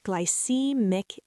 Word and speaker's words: glycemic: It's pronounced glycemic index, and the stress falls on C.